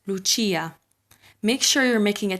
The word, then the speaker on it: Lucia: half of the name the c coming after the i makes a ch sound this name is not